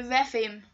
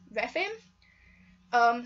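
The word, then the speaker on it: Rephaim: The Repheme series. If you want to know how that's spelled, it's R-E-P-H-A-I-M, Repheme.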